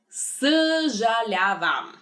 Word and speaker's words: съжалявам: Съжалявам.